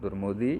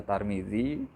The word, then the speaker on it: Tirmidzi: Kyle dan dibersihin what turmudzi Hai yang dibahas puspareni bisa dibaca turmudzi bisa digeser Tarmizi Kanada menteri namanya Tarmizi Taher ada tetangga Namanya turmudzi Bapak turmudzi ada yang bacanya Tirmidzi radhakrishnan Tirmidzi rada langka boleh dibaca al-bukhari dan